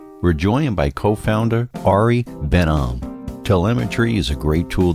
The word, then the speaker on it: Ben Am: cool so I want to welcome Ari uh benam to the uh program I think I pronounced it right right you nailed it could